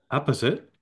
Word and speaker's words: apposite: Number six is apposite. Not opposite.